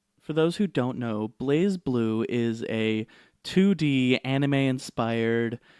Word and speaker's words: BlazBlue: be la z-bo ue but that would be Blas not blaze but they pronounce it blaze so I'm going with